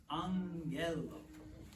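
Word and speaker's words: ἄγγελος: makes an announcement so if you have two gas next to each other there's an there's kind of an N that sneaks in it's like an Angell okay now if you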